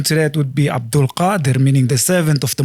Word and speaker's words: Qadir: So it's Ka. it comes from the throat. Qadir. Qadir. Is it KH? Well, it's not even K, it's not even H.